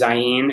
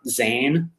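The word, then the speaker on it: Zayin: it spelled z-a-i-n um you also see z-a-y-i-n which is nice because it is zyein and not zane uh we're not big sticklers on pronunciation but but please don't say zayn uh all right so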